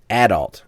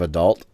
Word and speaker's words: adult: I know when I listen to the Cartoon Retrocast, Jeremy always says adult instead of adult. Mm-hmm. He puts it in the stress on a different syllable.